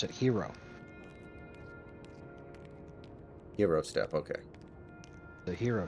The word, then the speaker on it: gyro: you're saying the Greeks pronounce it gyro they pronounce it hero hero step okay the hero Stone that's even